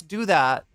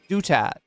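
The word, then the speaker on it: Douthat: It's Dutat. Okay, it's not Ross Do That, which was what his mom probably called him.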